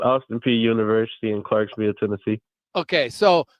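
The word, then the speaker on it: Austin Peay University: Is Austin PA how do you pronounce the college you went to? It's Austin P University in Clarksville, Tennessee.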